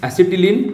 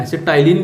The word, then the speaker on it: acetylene: It's common name is एसिटिलीन, ACE, एसिटाइलिन भी बोलो तो भी चलेगा, स्पेलिंग बराबर होना चाहिए।